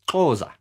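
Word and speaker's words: Xhosa: they were called the causas and that's that is spelt x-h-o-s-a and the way you say it is closer closer they are from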